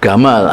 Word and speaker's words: Gamal: Wong Mesir itu nek muni jim itu G. Jadi Jamal Abdul Nasir ya Gamal Abdul Nasir. Makanya dia nulisnya pakai Latin pakai G. Mereka mengucapkannya Gamal.